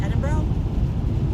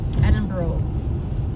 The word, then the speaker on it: Edinburgh: Because Adam used to make fun of me because I would say Edinburgh. So he'd be like, it's Edinburgh. I would pronounce it the way it's right, the way it's written phonetically.